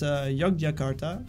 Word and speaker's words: Yogyakarta: It's Yogyakarta. That's how the city is called. That's the name, Yogyakarta.